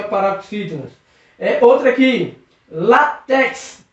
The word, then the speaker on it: látex: Látex, látex. Percebeu que a sílaba tônica é no lá.